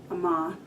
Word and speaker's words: Amavi: The third item is actually your Amavi, Amavi. That's how I'm supposed to say it, with a long A and a long I.